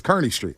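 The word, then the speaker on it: Kearny Street: it San Raphael uh cardi I never heard somebody say cardi it's Carney Street Cy street but the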